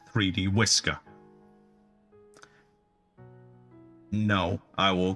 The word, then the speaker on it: 3dwi.scr: The full title is 3D Workers Island, but most of us prefer to use its file name instead, pronounced 3D Whisker.